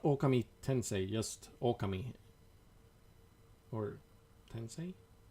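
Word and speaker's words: Ōkami: as a wolf, and I've always pronounced it Okami because of the like little thingy above the O. And people always like looked weird on me, like, why do you pronounce it like that? And here we are finally in a Japanese game, and they pronounce it Okami.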